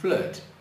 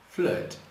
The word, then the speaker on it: flirt: Então I, mas no meio a gente dá uma paradinha e diz flirt, flirt. Não é fácil, realmente é um dos sons difíceis do inglês, né?